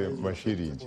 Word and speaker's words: Masilingi: I would say Masilingi. Pronounce it correctly. Masilingi.